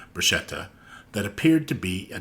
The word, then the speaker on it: bruschetta: The first is that Italian speakers are frustrated with the American insistence on pronouncing the word bruschetta, when in Italian it's bruschetta.